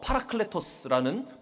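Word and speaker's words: παράκλητος: 여기서 보회사가 헬라어로 파라클레토스라는 발음라고 발음하는 단어인데이 뜻은 조력자 경려자 중제자라는 뜻을 가지고 있습니다.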